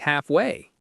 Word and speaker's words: halfway: Perhaps we could meet halfway. Perhaps we could meet halfway. Stress is on haps in perhaps and half in halfway.